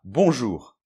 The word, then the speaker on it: bonjour: apprendre une langue où le mot bonjour se prononce comme ça, alors qu'il y a un O et un N, on les prononce pas, O et U, je sais pas où ils se prononcent, le R final, il est compliqué.